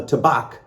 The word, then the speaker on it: Tabac: And what I'm going to do is I'm going to do back to back to back. Tabac or Tabac. I'm going to say Tabac because it rhymes with back to back to back.